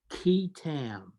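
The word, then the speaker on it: qui tam: the false claims Act is something called a ketam lawsuit have you ever heard of this I'm not most people have not it's spelled q-u-i-t-a-m you actually goes back to English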